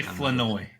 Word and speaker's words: Flournoy: They say Flanoy, but it looks spelled like Flournoy. There's an R in there.